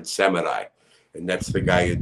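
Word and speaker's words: Samedi: in the in the some people say baron samidi but it's barren seminai and that's the guy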